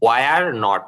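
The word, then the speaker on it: weren't: উচ্চারণটা আবার করে দেন দেখেন সহজভাবে বলতে ওয়ার নট এটাকে আপনারা ওয়ারন্ট বলবেন মানে ওয়ার পর্যন্ত আনেন এরপরে শুধু এন্টি যোগ করে দেন ওয়ারন্টটা স্টুডেন্ট স্টুডেন্ট তারা কয়েকজন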